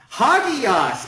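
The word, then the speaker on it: ἅγιος: Hagios, exactly. Very good. And this is our word for holy. Hagios.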